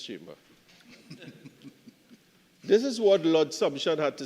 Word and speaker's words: Sumption: I I can say this by way of explanation in every privy council case I've looked at I've always heard it pronounced as sumption but people have different preferences.